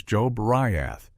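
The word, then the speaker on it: Jobriath: His name was Joe Briath, pronounced Joe Briath.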